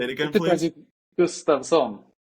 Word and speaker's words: Gustavsson: Gustavsson. Gustavsson. Okay. Yeah, that's good. That's better. But you can say Gustavsson or Gustavsson. Or Gustavsson. I'm going to try it, yeah. That's a Swedish pronunciation.